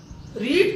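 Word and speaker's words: read: रीड की third form क्या होती है, रेड, पर स्पेलिंग चेंज नहीं होता है, इसका बड़ा ध्यान रखिएगा आप लोग।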